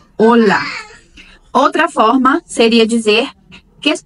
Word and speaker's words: hola: é o oi, olá, com atenção para o ênfase, né? Em português, nós damos ênfase quando vamos dizer olá, o nosso ênfase é na sílaba lá. E em espanhol, a ênfase é no o do olá. Olá. Hola. E em português, olá. Em espanhol, hola.